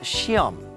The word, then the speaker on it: 시험: Now, it's spelled 시험, but it's pronounced 시험.